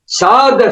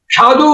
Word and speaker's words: সৎ: বিরত হইও না আমরা গোবেলা প্রার্থনার মধ্যে বলি সাদ সঙ্গমাই দেওনি অনেকের জায়গায় উচ্চারণ শুনেছি সাধু সঙ্গমহী দেওনি কথাটা সাধু নয় সাত সকার ভয়